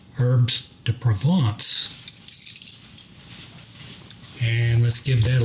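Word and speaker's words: herbes de Provence: of herbs to provant that's the Hy toyy way of saying herbs to Province but uh it's actually pronounced herb to provant and let's give that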